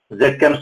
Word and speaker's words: ZChem: Other one is ZChem Specialties, which is called in American Z. So we call it ZChem Specialties.